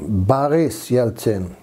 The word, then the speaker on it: Yeltsin: And even Boris Yeltsin, Boris Yeltsin would be more proper to pronounce it.